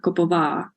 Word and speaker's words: Koppova: Last one, the accent goes for the last syllable, so it's Koppova.